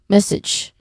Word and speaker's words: message: The second syllable here, sedge, it is often mispronounced as having a hard G sound. And message. So it should sound like itch, right? Similar to bridge, something like that, or reg. But common mistakes is there's like a diphthong there. Some people would say it as sage, message. Okay, that's the proper way to say it, message.